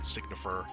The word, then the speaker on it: Signifer: Oh, it is pronounced Signifer. Okay, good, I was right.